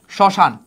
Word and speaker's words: শ্মশান: আবার আমি লিখলাম শ্মশান। দেখো শব্দের প্রথম বর্ণে আছে।